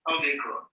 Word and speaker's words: Omicron: The name of this letter is Omicron. In the capital, Omicron is written as capital letter O of the English alphabet, and it is also pronounced as O, as in omelette.